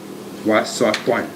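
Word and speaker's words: وسطٌ: Wasatun. Wasatun. Wasatun. So that's a sin in the middle. It is not a heavy letter.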